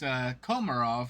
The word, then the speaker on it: Komarov: You were pretty accurate. It's Komarov, but it's still pretty darn Yeah, tootin' accurate.